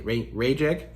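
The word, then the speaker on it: Rayek: It's Ray. It's like Ray E.K. Rajek.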